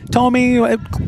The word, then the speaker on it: Tomey: When we went through pronunciations with the coaching staff for Don Bosco, Coach Christensen said, Tomey, good enough. Yep. Close enough. Said he's heard some different pronunciations. So we're going with Tomey, I guess.